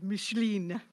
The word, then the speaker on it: Micheline: Next up, Micheline I hope I said that right. Micheline Actually, in France, that's called Micheline. Two syllables almost. But I would say Michelin like the tire.